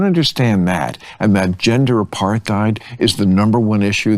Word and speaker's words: apartheid: I by the way despise the way Bill Maher says apartheid because it sounds like he's trying to be the smart guy in the room by pronouncing the th and apartheid.